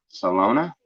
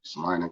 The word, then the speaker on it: Salina: What is that? Salona? Selena. And it's not even spelled like that. It's actually spelled like Salina, like Salina, Kansas. S-O or Salina.